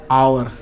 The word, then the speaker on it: hour: लेते हैं, जैसे HOUR, आवर। यहाँ ध्यान रखिए, जो आवर का मतलब घंटा होता है, और घंटा में H जो लगता है ना, वो H तो साइलेंट होता है।